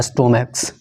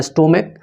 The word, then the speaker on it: stomach: ठीक है, जैसे यहाँ पे है कि स्टोमक। ठीक है, CH से भले अंत हो रहा है लेकिन इसका उच्चारण क्या है, क, स्टोमक।